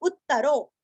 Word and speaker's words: उत्तरो: भोक्ता कपीन्द्रो भूरि दक्षिणः उत्तरो दो त का उच्चारण अच्छे से करना है और उरस्व लेना है उत्तरो गोपतिर पति का तीरस्व